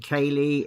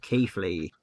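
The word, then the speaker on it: Keighley: The saying of Keithley, saying Kaylee instead of Keithley.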